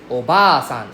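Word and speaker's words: おばあさん: There's actually a long vowel for Japanese, right? So, basically, we have all the underline above the certain letter. That one means long sound. Okay. So, for example, obasan is simply aunt. Obasan is grandmother. So, please don't accidentally call auntie grandmother.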